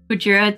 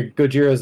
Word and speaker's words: Gojira: How many for Gojira to record that song?